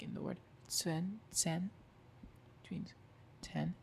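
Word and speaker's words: zehn: So like in the word sen, which means 10. It's not zen. It's sen. And remember the h is silent here because it's in between a vowel and a consonant.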